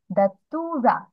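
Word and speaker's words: datura: এস পদ্ম তারপর হচ্ছে ধাতুরা ধুতুরা ফুল বলি না বাংলায় সেটার ইংলিশেও সেম সেমই একটু প্রোনাউন্সিয়েশনটা অন্যরকম হয় ধাতুরা এটা বাংলা ধুতুরা তাহলে ডিডা টি ইউ টু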